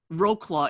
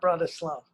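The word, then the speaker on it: Wrocław: you Brad slaw Cena what is the proper pronunciation slaw uh it's it's called Wroclaw in in American English it would be Wroclaw Oh Wroclaw oh it's not brother slow no but they built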